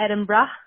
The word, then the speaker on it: Edinburgh: So you kind of say it like, you want to go to Edinburgh? Come on, brah.